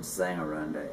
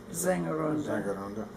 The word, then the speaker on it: Sängerrunde: remember, of the Austin Sängerrunde in Austin. Now, actually, the first letter of when the S is the first letter, it sounds more like an English Z. Sängerrunde.